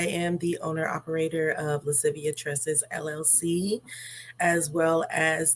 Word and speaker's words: Lascivia: It is Latin. It is Lascivia Tresses, Latin for playfulness and sultriness, which I feel that really is the biggest essence of my business.